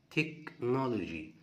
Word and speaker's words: technology: repaired repair repaired ring technology والH هنا لا تنطق والC هتنطق K technology technology places Africa Africa